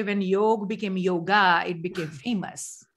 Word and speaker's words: yoga: that's what yoga means yoga means joining but it's called yog it's not yoga so you are not